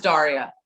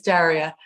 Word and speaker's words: Daria: Everyone that meets me immediately says Daria. And I'm like, oh, it's Daria.